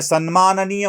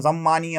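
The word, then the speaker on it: सन्माननीय: कधीही शिव्या बाहेर पडतात ज्यां शब्दांचे उच्चारण देखील पुण्यात राहून देखील चुकीचा है म ते सन्मान निय मत नाही सम्माननीय सम्मानीय म्हणतात यही उच्चारण चुकी है त्यांची भाषा सोशल मीडिया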